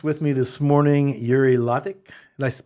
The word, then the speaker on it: Latik: got a guest with me this morning Yuri ltic did I pronounced that right your last name did you